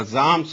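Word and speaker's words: Psalms: Part مانا جاتا ہے۔ دا زامس اس کو کہتے ہیں، پی سے اس کی سپیلنگ آتی ہے، پی سائلنٹ ہوا کرتا ہے۔ اور اس کے بعد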